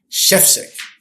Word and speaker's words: Schefcik: I'm your host, Corey Zelnik, and today I have a special guest, a new friend of mine, Chefsick, like the chef is sick.